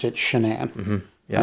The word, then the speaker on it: Shanann: I guess at some point she decided she wanted to accent the second syllable. There's a different spelling of Shannon that I've seen. Most of the time it's like Shannon, but hers is actually Shanann.